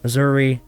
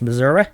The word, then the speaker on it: Missouri: Well, that's because every time somebody says Missouri, there's a bunch of people who are like, it's Missouri. Like there's some sort of like Jesse James outlaw that needs to pronounce it so ridiculous.